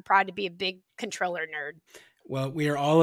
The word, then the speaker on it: Comptroller: numbers thanks again to controller mendoza for coming on you can go to her office's website illinoiscontroller.gov and remember that's spelled like comp troller to check out her